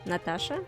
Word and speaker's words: Natasha: aside Slavic cultures Natasha her name is pronounced Natasha again really close and her full name would